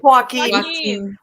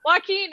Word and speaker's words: Joaquin: Joaquin. Joaquin.